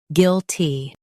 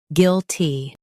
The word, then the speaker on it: guilty: shown on the screen, guilty. Both US and UK have the same pronunciation of this word, guilty. Now read the syllables shown on the screen naturally. Gil, T, guilty. Emphasize gil and soften T.